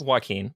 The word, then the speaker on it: Joaquin: I think it's pronounced Joaquin, but yes.